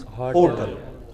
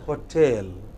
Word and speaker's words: hotel: Yeah, the wrong pronunciation is hotel. Correct pronunciation is hotel.